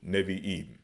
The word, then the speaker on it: Nevi'im: As we pronounce it, Nabayam. But as they pronounce it, Nevi'im. Okay?